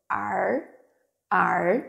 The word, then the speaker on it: 儿: Si vous parlez anglais, vous pouvez penser à un mot her, elle. C'est la fin de son her. Un petit peu la même chose, avec la langue légèrement roulée.